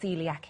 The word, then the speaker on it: coeliac: with telling people what Celiac is yeah well it's spelled c o e l i a c but pronounced Celiac and basically um it's